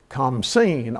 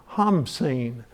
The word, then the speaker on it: Khamsin: In Egypt, the east wind is called the Khamsin, or another pronunciation is the Hamsin.